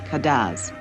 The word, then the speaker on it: cadence: the island's french patois the music is spelled cadence and called cadaz dominica lies between the